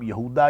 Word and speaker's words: یہودا: نے اس کا نام یہودا یا یہوذا، یہ ایک ہی لفظ کے دو مختلف تلفظ ہیں، یہودا بھی اس کو کہتے ہیں، یہوذا بھی کہتے ہیں چوتھا یا تیسرے نمبر